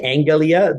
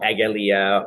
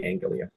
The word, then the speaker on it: angelia: I'm a stickler for myself for keeping with the Hellenic pronunciation. My supervisor really hated it, I remember, or he disagreed with it. I shouldn't say it. So I say Angelia, though, and I spell